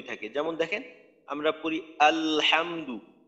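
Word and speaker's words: الحمد: আলহামদু, লামের আওয়াজ চালু থাকতে থাকতেই হা এর উচ্চারণ করি, আলহামদু, আলহামদু।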